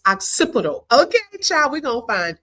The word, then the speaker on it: occipital: If y'all didn't know, like me, it's occipital.